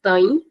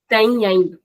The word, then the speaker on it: têm: Now this word can be called as têm, or it can also be called as têm, with the sound of ein being doubled. Têm. So there are two ways in which we can pronounce this. First is têm, and second is têm.